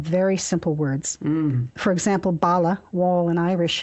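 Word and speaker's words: balla: For example, bala, wall in Irish, is spelled pretty much the way it would be spelled if it were an English word, B-A-L-L-A.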